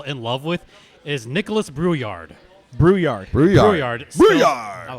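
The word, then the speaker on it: Brouillard: going to fall in love with is Nicholas brewyard brewyard brard brard b r o u i l l a r d but it's pronounced brewyard thank God I know all the pronunciation what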